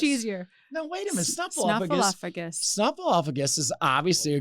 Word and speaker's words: Snuffleupagus: up gus.